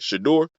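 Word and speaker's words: Shedeur: Shador? That's how you say it? Shador Sanders, Yeah, yeah.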